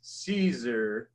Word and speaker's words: Siser: always my lesson number one, how to properly pronounce the name. And that is Siser.